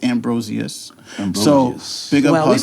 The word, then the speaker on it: Ambrosius: she was like, everyone always told me Ambrosius, and that's wrong. It's Ambrosius.